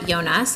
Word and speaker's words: Jonas: um first of all her name is Regina yonas it's spelled j-o-n-a-s so it looks like Jonas um she uh she